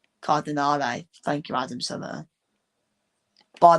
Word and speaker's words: Cardinale: There is the uh the owner of AC Milan, Gerry Car- Cardan- I couldn't pronounce that guy's name. Cardinale.